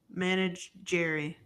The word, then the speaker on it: Menagerie: Menagerie. There you go. Sure, I don't want y'all to have sure. anything else to make Menagerie. fun of me tonight. You just pronounce it like it looks. Manage Jerry.